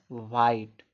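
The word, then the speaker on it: white: ई का कोई उच्चारण नहीं कोई उच्चारण नहीं निकल रहा है। तो इसको पढ़ा जाएगा वाइट।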